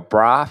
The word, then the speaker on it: Braap: Is that the correct pronunciation? Yeah, or Braap. The more Braap.